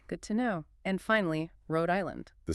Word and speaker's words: Rhode Island: And finally, Rhode Island. The stress is on the first syllable of the second word.